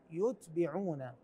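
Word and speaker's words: يُتْبِعُونَ: الله ثم لا يتبعون يتبعون هكذا تقرا وليس لا يتبعون يعون هي نفس الحروف لكن الحركات تختلف ايضا في نفس هذه الصفحه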